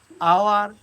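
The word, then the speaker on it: hour: আবার অনেক সময় আছে এইচ যুক্ত কোনো নাউন বা অ্যাডজেক্টিভ যদি থাকে এবং যদি তা সাইলেন্ট থাকে, যেমন honest, honourable, অনার, আওয়ার, এয়ার, অবশ্যই এখানে এই সাইলেন্ট থাকার কারণে তার আগে আমরা এন ইউজ করব।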